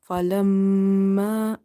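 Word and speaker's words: فلما: So in this falamma, meme is having nasalization. So you will hold the sound of meme. Falamma, falamma. 2.5 alif, you will stretch this alif.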